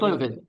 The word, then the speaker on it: Paxlovid: how to say it, Paxlovid, which is an antiviral. Well, that's how we say it. Paxlovid.